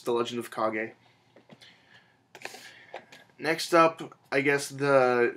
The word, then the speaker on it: Kage: credy G Game festers Quest the legend of KAG I am told that's how you pronounce that at first I was just calling it The Legend of cage but I was told it's the legend of KAG next up I guess The Shining Jewel in